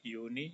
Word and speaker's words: Juni: Ini sama cara tulisnya, hanya bacanya pakai y, Juni, Juli.